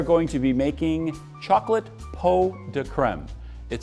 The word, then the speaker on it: pots de crème: to be making chocolate po de creme it spelled pots de crème but it's actually pronounced po de creme and it reus it